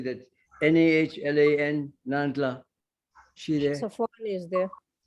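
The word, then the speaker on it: Nahlan: And Nandla, how do you say that? N-A-H-L-A-N, Nandla.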